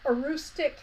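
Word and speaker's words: Antigonish: live in what's called austic County and that is m pronounced because it doesn't look quite like how it's pronounced but austic the word austic came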